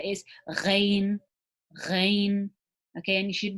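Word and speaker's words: غ: So the ghain was the same as the ha. It's pronounced from the top of the throat. Okay, so if you notice that there's a slight gargle, similar to how the scratchiness of the ha is, so that gargle is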